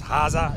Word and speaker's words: Haza: We did interview her on the show and she told us it's Haza, even though it's spelled, it sounds like Haas.